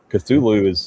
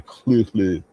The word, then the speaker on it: Cthulhu: Like Cthulhu is an approximation of what it's supposed to sound like, but Right. it's not correct. It's actually Cthulhu.